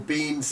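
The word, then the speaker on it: Biehn: Bean spelled B-I-E-H-N, right? This film was... It's not spelled like Bean, no.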